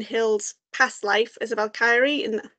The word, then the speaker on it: Valkyrie: past life as a valky and valky I keep saying it wrong I keep pronouncing the ey too much know I will get